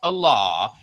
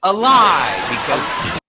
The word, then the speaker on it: Allah: name of their god it's not pronounced a law it's pronounced a lie oh this guy's so